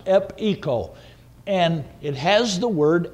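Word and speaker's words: epecho: and then the word echo e-c-h-o i'm sorry epico is the way it's pronounced ep eco and it has the word echo in it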